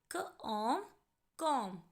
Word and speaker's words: comb: सबसे पहली बात बच्चों, ये जो वर्ड है COMB, यहाँ पर लेटर बी साइलेंट है, इसकी साउंड नहीं आएगी और हम इस वर्ड को पढ़ेंगे कॉम कॉम।